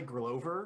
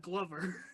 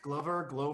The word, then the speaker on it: Glover: did you never play Grover? No. On, like the original like Nintendo. First of all, it's called Glover Glover, because you're a Glover.